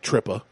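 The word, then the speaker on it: tripa: I had to ask her how to pronounce it because it looks like trippa. Yeah. And she was like trippa.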